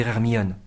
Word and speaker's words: Hermione: encore d'y trouver hermion entendez-vous la prononciation du I séparé du O c'est ce qu'on appelle une diérèse deux voyelles côte à côte sont séparées par la métrique cela crée un effet d'insistance sur le nom placé en fin de